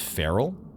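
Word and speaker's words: ferrule: said it right probably barel feral oh it's just feral a metal ring or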